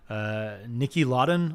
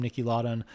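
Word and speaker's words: Niki Lauda: Nicky Lauda, I believe is how you say his last name, Nicky Lauda, but a very successful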